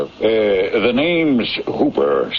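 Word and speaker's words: Houber: Uh, the name's Hooper, spelled H O U B E R, but pronounced to rhyme with Cooper.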